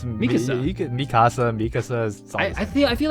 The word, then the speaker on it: Mikasa: Yeah, it's Mikasa.